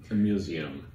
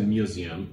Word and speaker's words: museum: Museum. Okay, the Americans say museum, or British say museum.